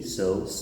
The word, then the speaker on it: sow: The sound is exactly the same.